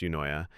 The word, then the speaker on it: Eunoia: Yunoya, pronounced Yoya, is a Greek word that literally means beautiful thinking or a well- mind.